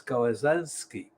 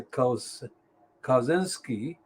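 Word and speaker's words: Kawczynski: graham brady danielle now how do you pronounce this kawasanski shall say kaus kozinski but that is the qualification that i may be getting it wrong the polish pronunciation sheril murray and andrew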